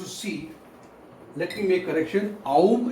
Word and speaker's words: Om: Aum is actually for the third eye, and you can pronounce over here as Om as well. So it's Om.